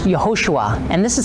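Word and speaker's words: יהושע: here's a representation of Joshua and Hebrew is pronounced yahushua and this is how you'd actually pronounce jesus'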